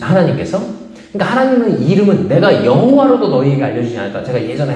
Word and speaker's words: 여호와: 이름 할 때 말씀드렸잖아요 여호와라는 말은 아도나이 주님이라는 말 거기에 요회 바회 밑에다가 아도나이 모음을 갖다 붙여 가지고 원래 자음만 있던 것에 나중에 읽을 수 없으니까 모음을 갖다 붙였을 때 그거를 발음이 여호와 이렇게 됐다는 얘기를 말씀드렸잖아요 예전에 그러니까